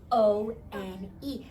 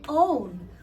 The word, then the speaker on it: one: the word number one o n e cuz it used to be pronounced as own and that's what it looks like oh with the magic but we don't call it own we call it one